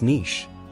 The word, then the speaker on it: niche: give it a try it is pronounced as Niche usually mispronounced as n Niche Means A specialized role Market or position both Niche and Niche are acceptable pronunciation ations in American English though Niche is closer to the French origin consider an example she